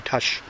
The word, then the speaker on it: Tush: And Dan Electro, I know you were asking about the pronunciation of my name. It's actually Tush.